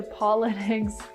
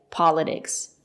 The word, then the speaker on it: politics: talk about the pronunciation it's not correct to say politics there is a stress after the letter T we pronounce the letter t as T politics politics not politics and now let's talk